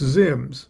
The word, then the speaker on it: ZIMZ: and Kelly, it's pretty clear that ZIMZ was meant to be pronounced Zims.